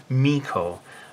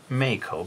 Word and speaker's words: Meiko: So she remains to this day MEIKO rather than MEIKO. But I think that sort of makes it interesting, don't you think? Rather than just pronouncing it the same way millions of people do in Japan.